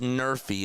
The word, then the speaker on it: NRFI: If you want to be dorky, you can say I took an NRFI, pronounced Nerfy.